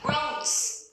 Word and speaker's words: groans: Groans không phải grand các em ơi. Đấy, lại phát âm sai. Groans.